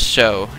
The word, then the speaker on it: SjoW: guys only spoke English, basically the way this word is spelled, it actually says SjoW. It doesn't say SjoW, it doesn't say SjoW, it says SjoW.